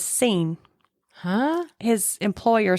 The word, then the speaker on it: Sean: next steps were so his name is spelled s a n which I say sha I say Sha but newspaper reports said that he pronounced his name as scen huh his employer said